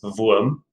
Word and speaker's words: Wurm: I also prefer to pronounce my playbook I chose in the German manner, which is Wurm, because I can.